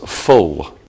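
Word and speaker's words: -ful: an adjective can end with if u L which is pronounced full some of the stock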